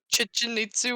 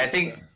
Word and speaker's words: Chichen Itza: Chichinitsu or something like that. It's Yeah, Chichen Itza. I Chichen think Marster says it Chichen Itza. Yeah. Yeah, I think that's correct.